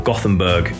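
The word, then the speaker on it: Gothenburg: Swedish death metal group from yabori or gothamberg if you want the English pronunciation formed in 1990 they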